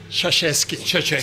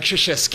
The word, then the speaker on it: Krzyzewski: O sea, recientemente, recuérdame, ¿cómo es que se pronuncia el nombre del ex entrenador de la Universidad de Duke, por favor? Krzyzewski, bendito sea el señor, no joda. Mike Krzyzewski.